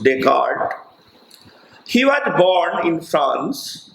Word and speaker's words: Descartes: e s c a r t s written discards but pronounced descartes he was born in france on 31st march 1596 and he died on 11 february 16 15.